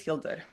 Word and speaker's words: Hildur: audience can know uh who is Hilder uh very good pronunciation I have to say you say it very well so I'm H